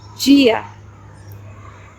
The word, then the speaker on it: dia: Another word I can use as an example is the word dia, dia, which means day. Dia is D-I-A, dia. It sounds like a G in English.